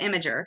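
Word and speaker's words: Imgur: platform and I think it's called imager but it's spelled like imar I am gur and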